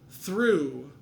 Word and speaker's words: through: Through, the GH can be considered silent, or maybe it has an effect on that vowel.